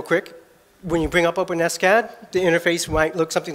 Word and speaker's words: OpenSCAD: How do you pronounce it? Not OpenSCAD. The maintainers prefer OpenSCAD so it doesn't sound like an open wound.